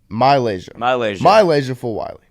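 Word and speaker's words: MiLaysia Fulwiley: Y'all got to pronounce her name correctly. Malaysia Fulwiley.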